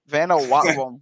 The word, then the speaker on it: Vanuatu: I mean, hell, they sent me to Vanuatu a couple of months ago, so that was weird. Where is? I'm glad you said how to pronounce that. Where is it? So Vanuatu.